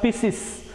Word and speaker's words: Pisces: Some people call it as Pisces. Okay, correct pronunciation. Superclass Pisces. P-I-S-C-E-S.